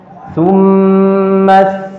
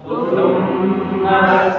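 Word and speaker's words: ثُمَّ: Itu bukan diucapkan dengan su, tapi jadi ujung lidah dipertemukan dengan ujung gigi seri su.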